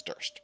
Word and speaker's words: Durst: And right now, we're in the worst, which also happens to rhyme with the family sword that we stole, which is Durst.